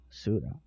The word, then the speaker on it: Sura: Sura. They are pronounced like Sura in this game.